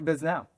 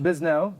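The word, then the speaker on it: Bisnow: Mark Biznau, but it's pronounced Bisn.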